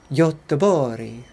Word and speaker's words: Göteborg: Göteborg.